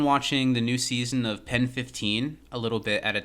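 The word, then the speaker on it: PEN15: anything about okay well it's called pen 15 is like how you say it but yes of course it's supposed to look like penis and it's two comedians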